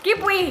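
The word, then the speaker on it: Kewpie: Keep way. QPie? Ang pagka-pronounce ko dati, QPie.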